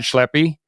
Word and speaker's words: Schleppi: a fantastic guest today his name is schleppy and I pronounce that right right yeah okay man I